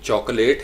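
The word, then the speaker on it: chocolate: इसको पढ़ेंगे चॉकोलेट, तो इसको हम पढ़ते हैं चौक, AW की साउंड होगी, ओ, चॉकलेट, चॉकोलेट, चॉकोलेट, LET, लेट नहीं है, ये लेट है, चॉकोलेट, लिट भी नहीं है, चॉकोलेट, चॉकलेट, चॉकोलेट, चॉकोलेट, ठीक है जी।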